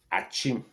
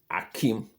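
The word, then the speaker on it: Akyem: Achim, spell like this. Achim. The white man say this is Akim. So you're traveling, they say Akim Oda. The white man say that is Akim. And you, the Ghanaian, who who is the real Achim person.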